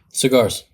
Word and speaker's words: Cigars: How do you say your last name? Cigars. Just like that.